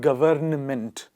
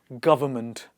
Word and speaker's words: government: damn him solemn solemn government not government it is government contempt condemn limb Lim